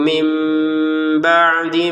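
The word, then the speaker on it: من بعد: Di sini nun sukun bertemu ba. Maka kita bacanya tidak lagi min tapi dibaca mim ya. Apalagi di sini memang tertulisnya mim kecil menandakan kita bacanya mim sudah bukan min lagi.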